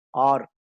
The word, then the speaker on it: are: அடுத்தாக ARER, ஆர். இதை ஏர்னு உச்சரிக்காம ஆர் என்று உச்சரிக்க வேண்டும்.